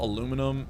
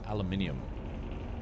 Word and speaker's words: aluminium: I guess most countries spell aluminum as if it was read aluminium, but some countries just have it spelled as aluminum. I think we talked about this before, like why do they say aluminium? It's spelled like aluminum, but then we found out that a lot of places actually do spell it with the extra I.